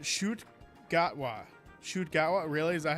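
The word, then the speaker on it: Ncuti Gatwa: It's pronounced Shoot Gatwa.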